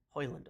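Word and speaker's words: Højlund: I've actually rarely ever heard the name Rasmus hoyland hoyland right that's how you pronounce Erasmus hoyland so they're starting talks on him in more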